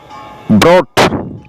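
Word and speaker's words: brought: এরপরে ব্রট এনেছিল, কট ধরেছিল, বট কিনেছিল, টক শিখেছিল, থট চিন্তা। এই সমস্ত ওয়ার্ডের মাঝে জিএইচ এর উচ্চারণ হয় না।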